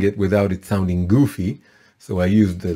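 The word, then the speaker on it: גוף: it without it sounding goofy so i used the letter u so it's pronounced goof goofy's body so root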